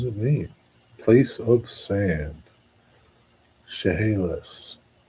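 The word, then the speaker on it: Chehalis: Pronunciation Shahalas. Really? Wow. Shahalis. What does it mean? Place of sand. Shahalis.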